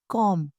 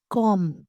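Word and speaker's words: comb: कंघी को इंग्लिश में कॉम। कॉम कहा जाता है। इसमें बी जो है वह साइलेंट होता है। इसे प्रोनाउंस नहीं करते। इसे कॉम कॉम बोला जाता है। ठीक है? बी साइलेंट हो जाता है।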